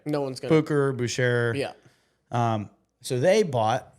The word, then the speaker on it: Bucherer: do you pronounce this I think it should be Boucher apparently it's Booker yep I've heard some pretty high up watch people say Bucher so that's what I'm gonna go with but I don't I